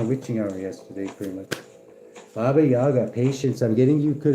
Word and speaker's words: Baba Yaga: To the Slavic people of Eastern Europe, Baba Yaga, pronounced Baba Yaga, is the old woman of autumn, whose spirit lived in the last kernel of harvested grain.